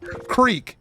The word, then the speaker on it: creek: Because you say crick if you're from Pittsburgh, when you say creek if you're anybody else in the entire universe.